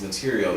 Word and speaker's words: Matirio: stories just you know hence my name is material even though it's spelled m a TI r i o is m a t e r i a l when you hear it